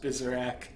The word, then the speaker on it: Byzerak: It's pronounced Byzerak.